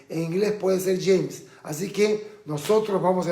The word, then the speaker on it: James: O como el famoso futbolista de la selección colombiana, James Rodríguez, no es James, porque en castellano es James, en inglés puede ser James.